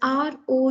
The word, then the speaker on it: roux: first one that is r o u x it is called as ro you pronounce it as uru rho is basically one